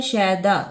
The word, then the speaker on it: شیدا: لفظ ہے شیدا، شین زبر یہ، شیدا زبر الف دا، شیدا.